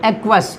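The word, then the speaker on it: aqueous: इसका उच्चारण इस तरह से करेंगे बच्चों एक्वस, ठीक है।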